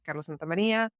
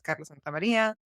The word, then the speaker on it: Carla Santamaria: Folks call me Carla, but it's really important for me to make sure that I introduce myself, pronounce my name the way that my parents gave it to me. So that's Carla Santamaria.